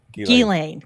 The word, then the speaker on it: Ghislaine: Is it Ghislaine? It's Just Ghislaine. Ghislaine.